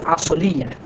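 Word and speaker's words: أصل: তার মধ্যে আসল আমরা যেটা বলি, আসলে এই আসল শব্দটা আরবি, এর উচ্চারণ হচ্ছে আসল।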